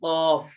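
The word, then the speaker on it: قاف: দিব কফে হ্যাঁ হ্যাঁ কফে একটু জোর হবে কফ এটা মানে কন্ট্রোলারের ভিতর থেকে বের করতে হবে কফ কফ কফ কফ হ্যাঁ কফ ওইটা ওটা কাফ জোর দিতে হবে এটা স্বাভাবিক কাফ কফ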